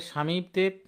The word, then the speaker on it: স্বামী: একটু দ্রুত এন্সারগুলো করেন তাহলে আমাদের স্বামীতে বফলাটা শুরুতে আছে তাহলে বফলা উচ্চারণ হবে না এটা লেখেন আর স্বামী বানানে দীহিকার আছে দিহিকারটা কিন্তু আমাদের অস্বীকার করে নিতে হবে ঠিক না দি তো আর উচ্চারণে রাখা যাবে না উচ্চারণে আমাদের অস্বীকার লিখতে হবে একইভাবে বিশ্বাস বিশ্বাস বানানে